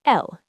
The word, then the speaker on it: elles: For a group of all females, you use elles, e l l e s. So, ils mangent or elles mangent. The s at the end is silent in both.